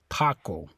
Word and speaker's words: taco: the word okay so in the word taco o is the last vowel this a would be the second to last vowel okay the CEO is kind of last syllable the TA is the second last syllable or or if you want to simplify it o is the last syllable a is the second last syllable okay so stress is on this a taco okay so we just